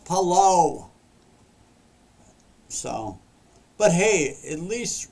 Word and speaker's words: Palou: So anyways, after all the cautions and the spinouts and it was Indy 500 winner Alex Palou. He took the checkers, and I just said his name wrong. Alex Palou.